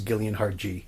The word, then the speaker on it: Gillian: And it's even her Twitter handle is Gillian Hard G.